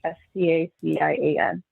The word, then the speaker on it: Stacian: It's called Station, but it's spelled like the name Stacia, so it's like STACIAN.